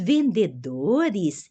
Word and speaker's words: vendedores: um v né os vendedores escrevem e-mails para os clientes os vendedor ó sempre o e no final eu pronuncio uma i e s né vendedores escrevem e-mails